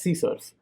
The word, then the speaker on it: CSRF: from cross-site request forgery csrf pronounced as scissors it requires a token